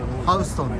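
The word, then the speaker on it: Houston: すけど、なぜかねニューヨークだとハウストンですね、読み方が。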